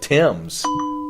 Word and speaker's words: Thames: goes over yeah there you go it's the Thames but you mean to really blow your mind